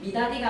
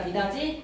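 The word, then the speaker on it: 미닫이: 미다디가 아니라 미다지.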